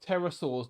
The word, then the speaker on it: pterosaurs: we know you like pterosaurs now but the thing is the p is silent foreign there we